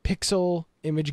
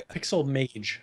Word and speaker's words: Pixel Mage: Um I Pixel Mage. I I keep saying it wrong. It is Pixel Mage. You're right. Yeah, I'm an idiot. Pixel Image. Uh it's not even Pixel Image.